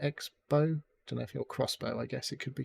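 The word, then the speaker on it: X-Bow: It's spelt Expo, but I'm assuming it's called Crossbow. Crossbow, yeah.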